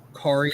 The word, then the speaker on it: Kari: Kari like Atari.